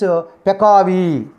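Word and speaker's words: peccavi: Next one PACCAVI. PACCAVI. That is means Pekavi.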